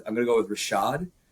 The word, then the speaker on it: RVSHVD: One, I'm going to go with Rashad, which is spelled RVSHVD for those people who might be looking him up and going, I don't understand how this works.